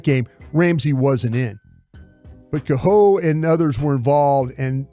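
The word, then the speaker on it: Kohou: It's Kaho.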